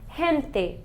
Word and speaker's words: gente: For this, the suave, soft sounds, he, we have gente, people, gente. It's a singular word, by the way. Gente, la gente, okay?